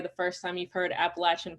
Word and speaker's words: Appalachian: carolina that's probably the first time you've heard appalachian pronounced correctly so my research studies are on contemporary